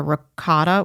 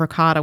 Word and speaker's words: ricotta: I'll always be like ricotta. I always try to bring the vowel at the end of it. But nobody in New York says with the vowel. Everybody says ricotta.